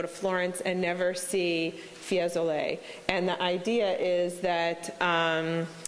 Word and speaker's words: Fiesole: you last night to Fiesole I think is how you pronounce that do as well a